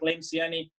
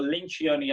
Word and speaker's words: Lencioni: a webinar with Patrick Lencioni or Lynch gionee I think he said pronounces it and and he said